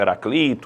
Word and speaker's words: Heraclito: a pronúncia do nome Alguns chamam Heraclito outros chamam Heráclito E aí sabe-se né